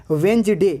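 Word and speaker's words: Wednesday: यहाँ D silent है, वेंजडे इसका होता है वेंजडे यहाँ डी साइलेंट है, और सैंडविच यहाँ भी डी साइलेंट है।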